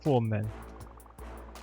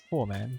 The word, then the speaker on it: Foreman: That's why they call me the Formman. It's actually pronounced Foreman, but my way is funnier.